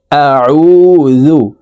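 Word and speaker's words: أَعُوذُ: লাম পেশ কুল কুল আউজু হামজা জবর আইন ওয়াও পেশ উজাল পেশু আউজু কুল আউজু আইন হালকের মধ্যখান থেকে চাপ দিয়ে উচ্চারণ করতে হবে কারণ আইনের মাখরাজ হালকের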